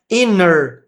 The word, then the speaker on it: her: Inner, como se não tivesse esse H.